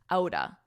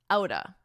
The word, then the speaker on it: out of: Notice the pronunciation of this because we really combine these two words to sound like outa, outa, out of the blue, out of the blue.